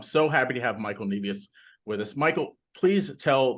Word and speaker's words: Nevius: And I am so pleased to have Michael Nevius.